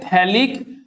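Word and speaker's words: phthalic: এটা হচ্ছে থ্যালিক anhydride, এই মলিকিউলটার নাম হচ্ছে থ্যালিক, পিএইচটা সাইলেন্ট আছে, থ্যালিক অ্যানহাইড্রাইড।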